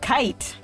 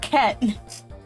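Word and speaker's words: Cait: How do you pronounce C-A-I-T? You would probably say kite. You would be wrong. It's pronounced ket.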